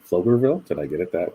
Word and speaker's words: Pflugerville: got it Pflugerville right Pflugerville did I get it that way it is close to me p is silent good girl no so sorry no it sounds like an F so flugerville yeah can't type this